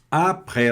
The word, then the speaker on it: après: Vamos só lembrar aqui que o E com o grave, o acento grave, a gente pronuncia ele aberto.